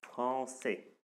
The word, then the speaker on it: français: Et ça se prononce toujours, ça se lit toujours comme S. Comme la langue que vous apprenez, comme la langue que vous adorez, j'espère. Voilà, français.